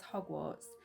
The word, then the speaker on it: Hogwarts: You could also do party invitations as Hogwarts acceptance letters. I said it right without the M.